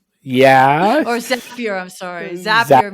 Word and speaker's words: Zapier: I'm sorry, Zapier makes it happier.